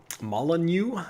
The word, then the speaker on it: Molyneux: uh that was uh created by peter molyneux molyneux i believe is how you pronounce his name kind of a divisive figure